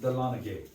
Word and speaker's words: Dahlonega: Dahlonega is a Cherokee word. They pronounced it Dahlonega.